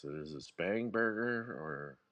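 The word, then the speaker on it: Spanberger: So, I heard you guys talking about how do you pronounce it? Is it Spangber or Spanburg? Spanburger.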